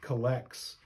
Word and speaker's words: collect: you may I think collects from the book of common prayer that's what it looks like but it's actually collect that's just a fancy English way of pronouncing uh a certain word and what that word